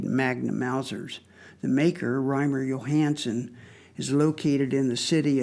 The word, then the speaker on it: Johannsen: This is a handmade magnum Mauser with a double square bridge made by Reimer Johannsen, spelled with a J, but pronounced as a Y.